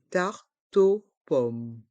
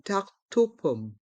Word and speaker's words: tarte aux pommes: Une tarte aux pommes. On fait la liaison avec le T et le O. Le E est muet. Une tarte aux pommes.